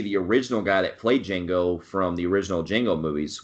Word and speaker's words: Django: your name he's like Django he's like how do you spill it DJ a NGO did the the D is silent he's like I know